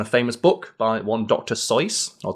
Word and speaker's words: Seuss: it's based on a famous book by one Dr so or Dr Seuss as it's often mispronounced is it so so yes he always